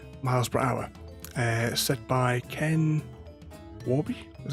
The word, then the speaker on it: Ken Warby: in a bit miles per hour set by ken warby is how you say his name that could